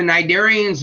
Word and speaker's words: cnidarians: But the cnidarians and the ctenophorans, the C is silent in those words, those are jellyfish and comb jellies, only have the ectoderm and the esoderm.